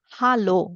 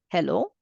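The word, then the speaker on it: Hallo: is ha and a so it becomes Halo not hello this is Halo Halo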